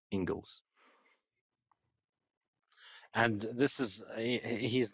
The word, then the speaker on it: Inglis: It's spelled Inglis, I believe, but pronounced Ingles.